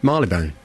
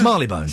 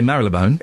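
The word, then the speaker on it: Marylebone: Marley Bone. Oh, you did. Okay, you got that one right cuz somebody I'll give it that. It got It's Marley Bone. Marley Bone. Some people say Marle Bone.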